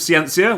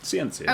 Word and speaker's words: Scientia: I always say Scientia, but it might be just a lazy little consonant tick that I have. That's actually... We'll go with that. Scientia? Scientia. Okay. There's a bunch of different pronunciations depending, but Scientia. We're going to go... What are some of the other ones? In Japanese, it's Scientia. Ah, okay, no silent C.